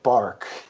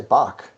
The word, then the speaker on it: Bach: We definitely don't say bark. I think there's some debate as to whether you say it with the throat guttural effect, but I think most people say Bach, like B-O-K, like what a That's chicken what I'm saying.